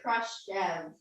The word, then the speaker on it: Khrushchev: Nikita Khrushchev.